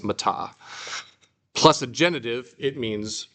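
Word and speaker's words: μετά: All right, here we have another preposition, meta, or meta, if you want to pronounce it correctly. In English, we'd say meta, metamorphosis, but in Greek, it's meta.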